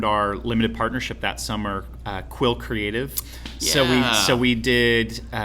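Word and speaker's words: Qwill: Because it's spelled Q-W-I-L-L, right, with Will in there. Exactly. So we did Quill. Brilliant, dude. Some people, they're going Q-Will, and I'm like, no.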